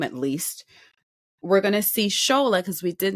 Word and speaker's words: Tsola: We're gonna see Shola because we did not see her because she was a quick clip in the blinds.